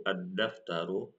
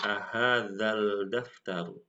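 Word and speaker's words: الدفتر: Safira mohon maaf sebelumnya Ketika membaca eh alif lam asyamsiah seperti kasusnya ini ahza dengan daftaru addftaru maka bacanya bukan ahal daftar tetapi ah ah daftaru arak ya Ali laluar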